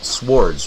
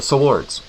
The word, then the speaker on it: swords: that they just had swords right swords swords swords you're really pronouncing that W that's like white I say the wward yes the swards they you know but